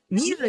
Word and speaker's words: MIU: ミュウやらしい。ミュウじゃないですよ。あ、ミュウ。